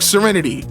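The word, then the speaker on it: Cyriniti: My daughter's name is Serenity, spelled C Y R I Ni TI, but pronounced like Serenity.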